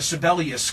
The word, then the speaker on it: Sebelius: that we have governor sibelius coming up everybody certainly knows your name now well uh you were correct in the pronunciation it's that's how the musician pronounces his name jan sibelius there you go any